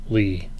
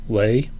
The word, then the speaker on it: Leigh: lee underscore that's l-e-i-g-h Lee lay tell me if I'm saying your name wrongly but I'm pretty sure it's Lee uh Lee underscore doing